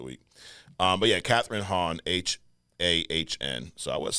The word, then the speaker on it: Hahn: But yeah, Catherine Hahn, Hahn.